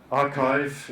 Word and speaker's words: arXiv: If you go onto the archive, this website ARXIV, this is where archive, it's pronounced.